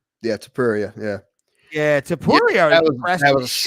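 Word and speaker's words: Topuria: That Tilapia or whatever, however you say his name, Tapuria. Tapuria.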